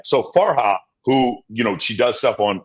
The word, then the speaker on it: Farha: So I say it wrong. It's not Farah. It's Farha. We always say it wrong. It's not Farah. It's Farha. Because guys don't get that because it's kind of fucked up when we say it. Because I said it wrong. It's Farha. It's H-A.